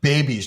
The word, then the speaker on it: Bebbis: It's pronounced baby's diet, but it's spelled Bebbis.